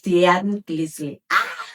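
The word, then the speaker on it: tianquiztli: La palabra tianguis proviene del náhuatl tianquilinguis, tianquistli. O sea, se me hace muy complicado pronunciarlo, pero es tianquistli.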